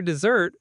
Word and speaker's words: dessert: Practice saying it out loud, stressing the second syllable.